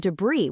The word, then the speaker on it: debris: We've got salmon, where the L is totally silent, subtle, where the B just vanishes, and debris without the S sound.